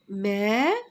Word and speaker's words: mais: AI, je le prononce E. Le S, je le prononce pas. Mais, le, L-E, le gros navet ne bouge pas. Ne bouge pas. Répétez après moi. Mais le gros navet ne bouge pas.